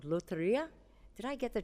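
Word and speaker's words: Lotería: They had a game in Mexico called Loteria. Did I get the pronunciation right, guys? I'm looking at you. Okay, thank you. They had a game that they brought called Loteria.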